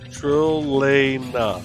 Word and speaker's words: Trilena: So it is trill, like a trill. Trilena.